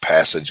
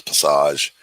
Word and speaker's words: passage: it's uh there's a it's spelled like passage but it's passage it's light against dark